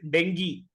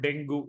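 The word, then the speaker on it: dengue: the tournament well he's out with Deni not denu that is the highlight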